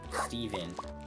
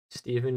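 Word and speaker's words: Steaven: you find out oh I spelled Stephen uh s-t-e-a-v-e-n the a silent there she is dude Stephen walking just sounded like Squidward walking um exactly like that Steven just ran into a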